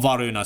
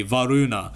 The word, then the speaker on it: Varuna: Not Varuna, sorry. Varuna. Not Varuna. Varuna. V-A-R-U-N-A. Varuna. Okay? That is his name.